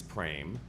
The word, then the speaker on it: Prem: For example, I often say my name is Pra and it's pronounced like frame and it has a P and it means love.